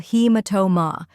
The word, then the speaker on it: hematoma: The correct pronunciation is subungual hematoma. First part, subungual, sub like submarine, like lung, and wall like wall. Second part, hema, he like the sound of bee, and ma like mama.